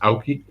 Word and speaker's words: Aoki: ridiculous because that's not his name it's it's pronounced aoki so apparently uh doritos asked for the heavyweight